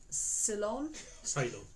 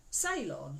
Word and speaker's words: Ceylon: Oh, okay, so it's Ceylon. Ceylon. Ceylon tea. Ceylon. Is Ceylon a different place? It sounds Yeah, it's like where you go and get your hair done.